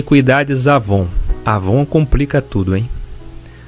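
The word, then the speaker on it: עון: cosméticos e perfumes avon mas a pronúncia forma transliterado escreve se com w mas esse avon avon significa iniqüidade lembra do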